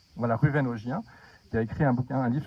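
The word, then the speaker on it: Ruwen Ogien: beaucoup aussi, qui s'appelle Ruven-Augien, on prononce comme ça, Ruven-Augien. Voilà, Ruven-Augien, qui a écrit un livre sur la liberté d'offenser.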